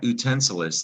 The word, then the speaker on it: utensil: An utensil, the first syllable, oo, that U makes utensil. But it became the English word utensil, that utensil. So you need to know sometimes the U sounds like you.